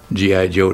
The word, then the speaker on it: G.I. Joe: which was the annual G.I. Joe dinner in Nuremberg. The Action Team consisted of many countries. We had the polysteel from Italy. We called it Gijo, G.I. Joe, but pronounced Gijo.